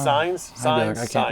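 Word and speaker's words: Sainz: Boogie was sitting right here because he was mispronouncing his name. And now we're back. It's signs.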